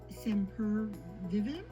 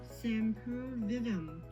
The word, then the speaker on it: Sempervivum: sometimes they're referred as semper vivim i think that's how you pronounce it sam per vivim sympervium or sem per vivem but anyways so a